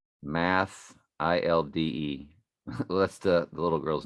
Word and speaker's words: Mathilde: Math, ILDE. Well, that's the little girl's name. Her name is Madeline. This is Mathilde. Math, ILDE. And they call her Mathilde. So I guess the H is silent.